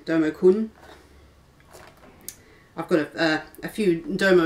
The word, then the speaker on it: Domo-kun: a few derma con dummy con is that out of it now I'm pronouncing that properly domo-kun I've got a few